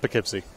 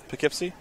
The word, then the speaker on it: Poughkeepsie: i know that one don't don't pronounce it like a tourist just poughkeepsie what do you mean well how did i pronounce it you're like po it was a little bit too um enunciated poughkeepsie yeah just poughkeepsie poughkeepsie i didn't i